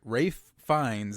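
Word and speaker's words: Ralph Fiennes: We got Ralph Oh, sorry. Rafe Fines is how you pronounce it.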